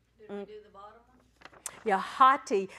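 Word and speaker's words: ὅτι: do the bottom yeah hotti that o is pronounced with the h because it's got a rough breather and there two vowels so it's hotti hotti yeus cuas they can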